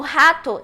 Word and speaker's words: rat: Então, por exemplo, uma palavra como rato em inglês, a gente fala em inglês corretamente rat, que é o mesmo R do interior, interior, só que aí a gente vai usar ele no começo da sílaba, essa é a diferença, tá?